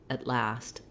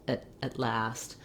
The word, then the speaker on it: at last: rather than at last it might sound like at last at last it's again a reduced version of the ah very short not a lot of length and so it's hard